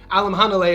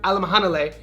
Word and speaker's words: Alimkhanuly: Even though his last name Alam Hane is very fun to say, it's spelled Alam Canoli, but if you want to properly learn Alam Hanle and then the African,